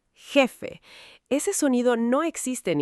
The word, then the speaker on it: jefe: En español, la J es un sonido gutural, fuerte, que viene de la garganta. Garganta es la parte interna del cuello. Jardín, jugar, jefe.